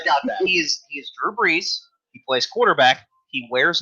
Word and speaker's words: Brees: He is Drew Brees. He plays quarterback. He wears number 9. Of course. But it is spelled like the wind. Breeze.